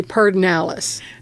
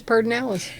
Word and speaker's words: Pedernales: But I don't know anybody in Texas that pronounced it pernalis. We all say pardonalis.